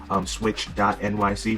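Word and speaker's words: pswitch.nyc: Subscribe, switch.nyc. Remember that P is silent.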